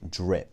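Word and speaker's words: Drihp: instagram recently and there's a company called drip it's spelled d-r-i-h-p and it's clothing made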